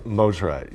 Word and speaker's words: Mosrite: Did I mispronounce it? Mosrite. Mosrite, yeah.